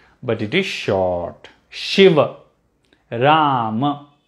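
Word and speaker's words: राम: at the end but it is short shiva ram not shiva not rama okay but but we have a goddess called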